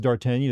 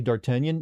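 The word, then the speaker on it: d'Artagnan: But uh the name Dartenion, you notice I don't pronounce it as Dartanian.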